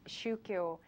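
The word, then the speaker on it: 宗教: Shukyo, the same Chinese characters used for 종교 in Korean, is pronounced as shukyo in Japan.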